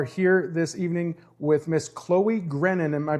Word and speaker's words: Chloe Grennon: We are here this evening with Miss Chloe Grennon. Am I pronouncing that correctly?